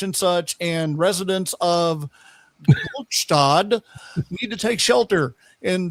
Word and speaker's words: Gluckstadt: such, and residents of Gluckstadt need to take shelter." And the phones all start blowing up, and they're all like, "Uh hey, it's pronounced Gluckstad."